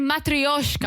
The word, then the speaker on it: matryoshka: They're matryoshkas. Matryoshkas. That Jesse does know how to pronounce.